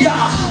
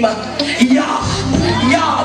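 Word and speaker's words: Jah: ah H but the in the Hebrew the J is silent is pronounced with a y yah we praise him by his name yah yah the warrior that rise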